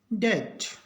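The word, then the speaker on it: debt: डी ई बी टी, इसमें भी बी के बाद टी है, इसका मतलब बी का उच्चारण नहीं होगा, बी इसमें साइलेंट है, इसको पढ़ेंगे डेट।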